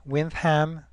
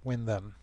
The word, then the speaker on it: Windham: now stay tuned for the big reveal why winds hem is pronounced as such and not win them you